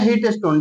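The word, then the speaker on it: Wheatstone: bridge इसका नाम है हिट स्टोन डब्लू से लिखाता डबल साइलेंट होता है ट स्टोन ब्रिज यह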